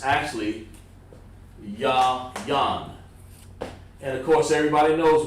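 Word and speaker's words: יין: Sound like a a whole animal, or yayin. What's a yayin? No, it's actually yan.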